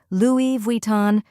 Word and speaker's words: Louis Vuitton: difference let's say it together a few times Louis Von Louis Von Louis Von keep practicing until it